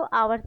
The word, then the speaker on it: hours: इसको आवर्स पढ़ते हैं, एच यहाँ पर साइलेंट होता है।